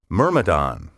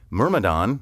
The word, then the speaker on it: myrmidon: seven word twenty one myrmidon m-y-r-m-i-d-o-n a loyal follower faithful servant or subordinate especially someone who is unquestioningly obedient myrmidon may also be pronounced myrmidon in ancient greek legend